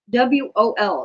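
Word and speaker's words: 월: Wol, Wol, W-O-L. It sounds like Wol, W-O-L.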